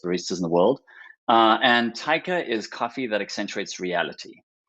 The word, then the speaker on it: Atoka: Yes, Atoka is the perfect way to pronounce it. Well done. What is Atoka?